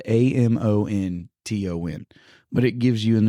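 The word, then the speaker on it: Amontons: And his name, he was a French man, and his name, I looked at it, it's spelled Amonton, but it gives you in the parentheses how to pronounce it, and it's quite literally a monton.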